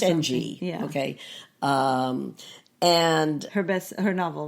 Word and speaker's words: Ng: It's NG.